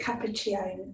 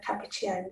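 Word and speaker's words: Capacchione: So a book that's really interesting to read about this is The Power of Your Other Hand by Lucia, I think you pronounce it Cappuccione, Lucia Cappuccione, The Power of Your Other Hand.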